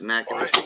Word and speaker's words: Natchitoches: That's how it's pronounced, Natchitoches.